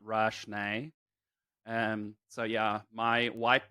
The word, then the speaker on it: Rashné: name um and so i've always just been doing rashny and i think your bio says it's pronounced rashney um so yeah my